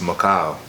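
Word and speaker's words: Mekhail: child I was actually pronounced Macau like Macau um but MJ is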